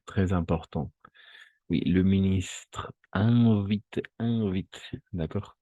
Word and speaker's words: invite: Oui, le ministre invite, d'accord? Toujours IN, on va prononcer un, nasal, son nasal, d'accord? Invite, pas invite, non, invite, d'accord? Son nasal, invite, et tout ça.